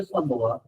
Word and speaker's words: समोआ: समोआ के अंदर समोआ पहले असल प्रोनाउंसिएशन है समोआ। आपने समोआ कहना तो समोआ के अंदर समोसा ना कहिएगा।